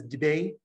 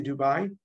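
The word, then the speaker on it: دبي: right now it says debate which is how the locals here pronounce it they don't say Dubai Dubai is only in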